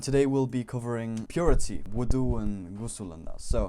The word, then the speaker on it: wudu: There's wudu and ghusl, okay? It's not wuzu. Don't say wuzu with a Z. a lot of people like to say it like that, but no, it's wudu or wudu and then ghusl, all right?